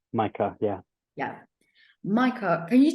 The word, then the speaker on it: Mycah: Your name is Michael, right? I just want to make sure I Micah, pronounce it. Micah.